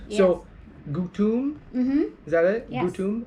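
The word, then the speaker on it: gutom: So O is always u. Yes. So gutum.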